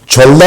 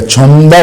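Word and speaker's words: 젊다: ये छोलदा नहीं पढ़ा जाएगा, छमदा पढ़ा जाएगा। इसका तलफ़ुज़ क्या बनेगा? तलफ़ुज़, प्रोनाउंसिएशन, ये बनेगा छमदा।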